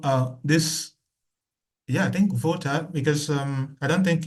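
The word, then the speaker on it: Wolter: Uh sorry, you know, uh this Yeah, I think voter because um I don't think if is an English name and somewhere here in Poland for instance, this W is pronounced as V.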